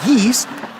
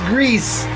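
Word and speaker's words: Gris: for impact goes to no not geese greece thank you for confirming that it's pronounced grease that's a good pick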